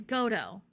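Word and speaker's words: Godot: go oh well yeah the tea is silent that I know for sure it's like because there's a play called waiting for goo I don't know if it's gdo or goo but there's a play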